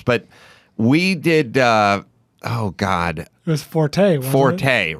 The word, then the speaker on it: Forte: he got traded to Forte. So now he had to go live with the Forte people who were mispronouncing Fort and calling it Forte.